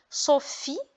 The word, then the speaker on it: Sophie: Par exemple, Sophie. Donc, vous remarquez PH qui se prononce F comme photo.